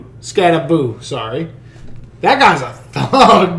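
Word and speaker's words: Skattebo: And that's, I don't know how to say his last name, but Cam Scatabo? Scattaboo, sorry.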